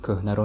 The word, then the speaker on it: кӯҳна: роҳбаладамон ба мо шаҳраки кӯҳнаро нишон дод. The word кӯҳна, which means old, usually people don't pronounce he in the middle. So it sounds like кӯҳна without he.